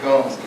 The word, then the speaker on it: Gomes: Gomes works in Portuguese, woman in Spanish, so Portuguese was Gomes.